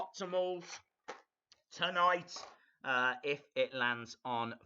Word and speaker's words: tamales: Haha, calling them Tamils, pronounced. What are they pronounced? Tamales. Hot tamales. I thought, are they not called hot Tamils?